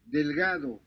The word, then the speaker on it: delgado: delgado, Yeah, this is also the hard G.